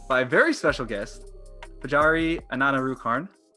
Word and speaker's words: Pajaree: Her name is indeed pronounced Pajaree.